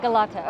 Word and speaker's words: Galata: Excuse me, how do you pronounce the name of this tower? Galata Tower. Galata, okay, thank you.